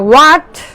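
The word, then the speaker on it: what: আমরা কি বলি হোয়াট এইচ এর উচ্চারণ হবে না হোয়াট হোয়াট হোয়াই হোয়াই হোয়াই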